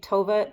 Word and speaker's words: Tove: If you think Tove drove a Nova, it rhymes with Nova, so that might help.